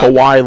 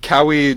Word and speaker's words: Kawhi: Kawhi Leonard. Yeah, How do that you was say his name? Kawhi Kawhi? Leonard. You said Cowie Leonard.